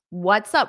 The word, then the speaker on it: what's up: you get this pronunciation notice we have what's up what's up so they combine together what's up what's up so you can hold out that s before you say up what's up what's up